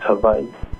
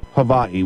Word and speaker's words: Hawaii: Instead of Hawaii, it's Hawaii. Okay. So how did you wind up out at the University of Hawaii?